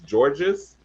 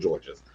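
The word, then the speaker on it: Jorgeous: saying her name right it's george's it's written j-o-r-g-e-o-u-s so i'm thinking this poison or yes whatever whatever we'll go with george's you girls come out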